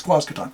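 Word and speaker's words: Quasqueton: It's Quazcaton.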